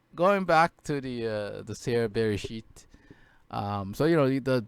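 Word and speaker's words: בראשית: It's because I did a message about Bereshit and where I used it, and I just looked up, how to pronounce the in the beginning in Hebrew, and it told me Bereshit.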